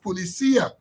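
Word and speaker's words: Policía: Jagdew, is reported to have said that the placing of the word policia, or we just said policia, but policia, but my Spanish-speaking friend said that the word should be pronounced policia.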